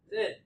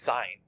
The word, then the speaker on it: sin: hypotenuse which of these sin it's actually pronounced sign but you're right it is spelled sin so let's go ahead